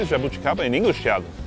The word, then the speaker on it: jabuticaba: How do you say Jabuticaba in English, Thiago? Jabuticaba?